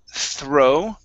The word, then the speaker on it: throw: up is the word throw throw throw okay so that th is going to be like a Theta th throw throw throw